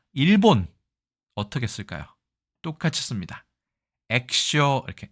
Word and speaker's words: 液晶: 액쇼 이렇게 액기쇼지만 보통 발음을 액쇼라고 발음합니다.